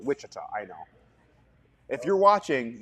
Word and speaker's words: Wichita: got to be there wachita Kansas is that how you pronounce it wachita no Wichita I know if you're